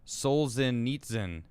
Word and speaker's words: Solzhenitsyn: so i can there we go it is pronounced souls in that's what it looks like oh solzhenitsyn solzhenitsyn alexander solzhenitsyn skin's probably like an ameri